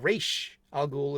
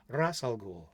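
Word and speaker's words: Ra's al Ghul: It's not Raish Al Ghul. It's not Raz Al Ghul. It's Ras Al Ghul. Roll your R.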